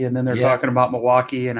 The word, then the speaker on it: Milwaukee: It's pronounced Milwaukee, Oh, wow. according to Alice Cooper.